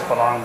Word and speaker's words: farang: to say it, and he would say farang. He says farang all the time, but his Thai wife says belang, but.